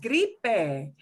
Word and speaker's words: gripe: Gripe, a lot of people have troubles with this word gripe because they think silent E, there is no silent E. They all get pronounced gripe, gripe, gripe.